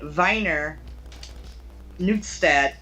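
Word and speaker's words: Wiener Neustadt: sorry austria i'm sorry he's born in viner newtstead austria yeah because w's are pronounced with a v yeah that dialect yeah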